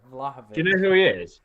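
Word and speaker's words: Vlahović: say is name was valovic is that his name where are all those syllables on this I am awful pronunciations vlahovich vavich there we go vlahovich you know who he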